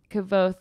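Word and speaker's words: Kvothe: you miss that and he says it's actually kavo the E is silent and I was like [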